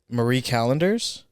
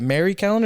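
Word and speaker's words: Marie Callender's: Stouffer's yeah Marie callenders how do you say it Mary calendar is a Marie I say Marie Marie callenders those are like the top I've never heard someone say it the other way Mary calendars yeah I'm sure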